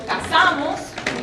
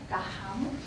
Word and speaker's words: casamos: is called jejeo, where the S at the start of syllable is pronounced kind of like an H. So if we take the example casamos, we marry or get married, it would sound kind of like cajamos, cajamos, casamos, cajamos, something like that.